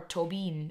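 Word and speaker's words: Tóibín: But the name Colm Tobin, or Tobin, if you pronounce it in the Irish.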